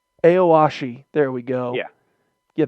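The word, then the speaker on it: Aoashi: of that uh the soccer one that i mispronounced eight consecutive times when we were talking with christian the other day hey owashi aoshi there we go yeah yeah that show that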